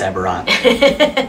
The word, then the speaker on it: Eberron: It's like, I think it's Eberron. No. A few moments later. It is Eberron. I was like, wait, is that how it's said?